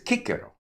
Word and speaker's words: Cicero: Central Europeans say Cicero, Italians say Cicero, whereas presumably it's Cicero. Or am I wrong? Right, which is, you're absolutely right. And most people are familiar in school with the classical or restored classical pronunciation. And that's because the C and the G were pronounced K and G until about the 5th or 6th century AD.